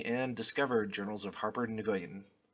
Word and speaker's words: Nguyen: Discover Journals of Harper Nguyen. Is it Nguyen or Gwen? Gwen? It's pronounced Oh, Gwen.